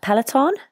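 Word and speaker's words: peloton: tactical so you mentioned I'm going to pronounce this wrong the p pelaton is that right oh good so you mentioned the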